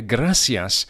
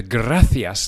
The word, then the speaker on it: gracias: which in spanish is gracias the sea of gracias is pronounced as an english th as in thanks the same word gracias